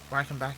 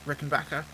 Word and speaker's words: Rickenbacker: Eddie rener or Rickenbacker his name is not Ren back it's ricken backa it could be ricken backa it might not even be pronounced that way I'm getting a little